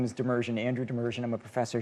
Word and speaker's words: Demirjian: Demirjian, yes. Demirjian. You have a very difficult time. Yeah. You picked the two people with the hardest last names to pronounce to interview today. My last name is Demirjian, Andrew Demirjian.